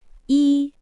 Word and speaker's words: 一: They are pronounced E R sun.